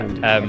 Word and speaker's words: Nathrandir: Is that how you say it? Nathrandir. Yeah. Nathrandir. Okay.